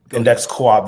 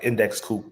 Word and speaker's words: Index Coop: but yes index coup index Coop they spend it they spell it like index Coupe but um it's index Co-op for index cooperative and the reason I